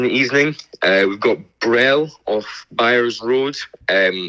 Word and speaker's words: Brel: Uh we've got Brel off Buyers Road.